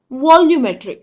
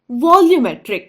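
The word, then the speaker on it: volumetric: बोलेंगे वॉल्यूमेट्री वॉल्यूमेट्री वॉल्यूमेट्री यहां एल यू का उच्चारण हमें लू किया ल क्यों नहीं किया या लू क्यों नहीं किया यहां यू की जो आवाज है वह उसकी पहली आवाज नहीं है एक्चुअली बी ओ एल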